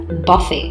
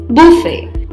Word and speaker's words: buffet: arranged on a table it is often incorrectly pronounced as Buffy please remember we stressed a little more on